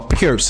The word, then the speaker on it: Pirc: Our our pierce. It's called, it's pronounced pier. Um, a lot of Americans call it perk.